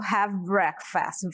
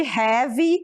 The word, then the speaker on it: have: vou usar o verbo have breakfast, ok? Nada de have, aí esse E aí é mudo, não vai falar have, ok?